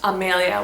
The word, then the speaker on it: Amelia: Mexico named Amelia but her name is pronounced Amalia with the same spelling this is definitely strongly